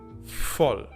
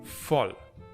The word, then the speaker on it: voll: Then we have the V. Voll. And as I told you earlier, here it's pronounced like an F. Voll.